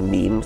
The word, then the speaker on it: meme: So I called it a meme. So it doesn't exactly rhyme with gene, but it's sort of short and sounds vaguely similar.